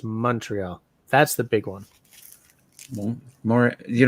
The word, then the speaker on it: Montreal: The big thing is it's not Montreal, it's Montreal.